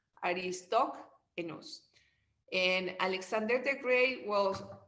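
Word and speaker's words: Aristoxenus: That's the way it is pronounced, Aristoenus.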